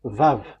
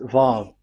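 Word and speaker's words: וָו: So it's V as in vogue. So it's really V. How to read vogue? So the word, the shape Vav is really pronounced V, like vogue. That is it, pronunciation. So here in this side, it's pronunciation. This is pronunciation. So according to the old Hebrew word today, those who, the owner of the word, I mean, so it's a V. So don't change it into W.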